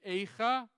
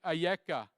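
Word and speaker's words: איכה: How do you pronounce these words, these letters? Aleph, Yud, Kaf, Hey. Is it Eicha or is it Ayeka? Is it how could it be or where are you?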